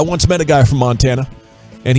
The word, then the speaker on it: Montana: Okay, I once met a guy from Montana, and he says you got to stress the Mon if you want to say it like a Montanan.